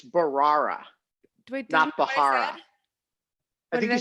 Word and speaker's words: Bharara: before he shows up though I learn to pronounce his name it's Barrera we dump ahora he said Mahara did I